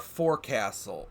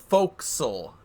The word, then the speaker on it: forecastle: a look back at our Forecastle or folkal because I've been corrected by many people that I've been saying it wrong uh for a while